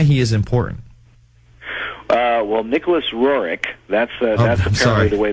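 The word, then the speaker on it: Nicholas Roerich: time and why he is important uh well Nicholas roric that's that's apparently the way the name is pronounced um and I learned that by going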